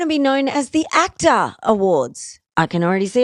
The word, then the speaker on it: AACTA: The Actor Awards, it's spelled AACTA and it's not actor, because the Actor Awards in Australia acknowledge a lot of the technical and production side as well.